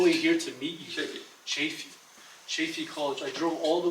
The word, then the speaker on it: Chaffey: Chaffey College.